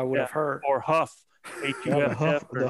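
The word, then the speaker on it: Hough: I was like, it looks like Hugh. I would have spelled that J-O-F if I would have heard. Or Huff. Huff, the Huff riots back in the 60s, man.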